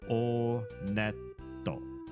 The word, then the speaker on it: Onet: It is pronounced Onet. I did check the Japanese pronunciation. And in Japanese, when you go to this first town, they pronounce it Oneto. Oneto.